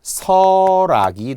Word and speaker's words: 설악: 발음은 리을이 올라가 설악이 되니까요. 첫 소리로 이동을 한 거잖아요. 그래서 설악산도 역시 시험에 잘 나오는 SEO의 이제 RAK겠죠. 오답은 LAK라고 하면은 그게 전형적인 시험용 오답이에요.